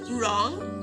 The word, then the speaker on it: wrong: And letter W is silent in the words wrong and wrap.